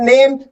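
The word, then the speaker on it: name: नेम क्या होता है इसमें ई नहीं बोलता सिर्फ नेम नेम what is your नेम what is your नेम what is your नेम तो नेम ही बोलता है ना कि नेम ही नेम ही नहीं बोलता सिर्फ नेम बोलता है ई साइलेंट होता लेकिन लिखा क्या जाएगा?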